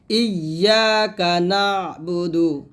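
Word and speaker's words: إِيَّاكَ نَعْبُدُ: এই যে আইন উচ্চারণটা আমরা করতে পারি না, এটা করতে হবে সুন্দর করে, ইয়াকা না'বুদু, ইয়াকা না'বুদু।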